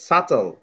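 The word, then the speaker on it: subtle: সুরা 5 নম্বরটা দেখো, 5 নম্বরটা হচ্ছে সাটল। বি। 5 নম্বরটা হচ্ছে সাটল। সাটল, তাহলে কোনটা সাইলেন্ট হয়েছে? বি। বি সাইলেন্ট হয়েছে, গুড।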